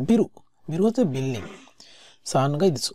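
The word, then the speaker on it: 3階: সো এখানে কিন্তু কাই বলা যায় না, এখানে হচ্ছে গাই, উচ্চারণগত সুবিধাতে 3 階 । তো বিরু, বিরু হচ্ছে বিল্ডিং, 3 階 দিস।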